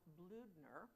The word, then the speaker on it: Bloedner: Private August Bloedner, as it's pronounced, we learned, of the 32nd, carved a